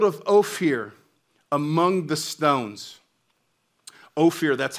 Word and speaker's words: Ophir: and the gold of ophir among the stones oh fear that's how you pronounce it in in the language now ophir